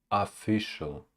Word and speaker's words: official: you reputation reputation reputation official official of not official official not official official official official the first syllable is unstressed official official official official